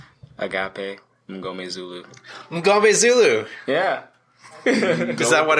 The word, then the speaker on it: Mngomezulu: It's kind of how it's spelled too. Oh yeah, exactly. I think that M-N-G throws people off because then after that it's pretty simple. It's like M-N.